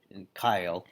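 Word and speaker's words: Keil: And the Kyle or Kyle, depending on how you pronounce it, I think it's German, so it's Kyle.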